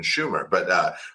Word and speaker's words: Sumer: suddenly developed then there's Sumer, which just appeared out of nowhere. Oh, here's, or if you want to say it how they say it, they would have said it would have been Schumer, but so Sumer appears out of nowhere.